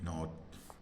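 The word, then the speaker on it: knit: एन आ रहा है तो के का उच्चारण नहीं होता है यानी के का उच्चारण नहीं होता है एन का उच्चारण होता है जैसे के एन डबल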